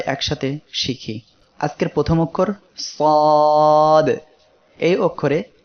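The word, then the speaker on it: ص: সবাই আমার সাথে সাথে পড়েন সাদ সাদ। এই অক্ষরের মাখরাজ হলো জিহ্বার আগা সামনের নিচের 2 দাঁতের পেট ও আগার সঙ্গে লাগিয়ে সাদ উচ্চারিত হয়।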